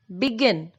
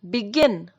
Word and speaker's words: begin: Here we have two syllables, B and gin, begin. And our stress is on the last syllable, that is gin, begin.